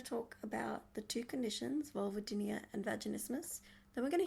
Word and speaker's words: vulvodynia: So, vulvodynia said vulvodynia.